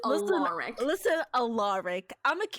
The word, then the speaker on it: Alaric: It's Alaric. He did make a very big point of saying that it is Alaric.